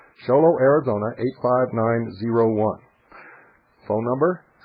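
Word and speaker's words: Show Low: box 1420 sholo Arizona sholo is spelled exactly like it sounds two words show and Low sholo Arizona 859 901 phone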